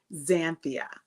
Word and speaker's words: Xanthia: However, it is very phonetic. It actually is said just like it is spelled. It's Xanthia.